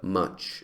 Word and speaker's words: much: cantidad de sonidos vocálicos que tienen s es much es como no es much es no es